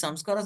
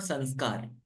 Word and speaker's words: samskara: So these samskaras have to be purified. Samskaras. It's actually not sanskar. Hindi mein sanskar nahi, it is samskar.